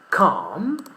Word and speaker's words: calm: In the word calm, clearly the letter L is not pronounced.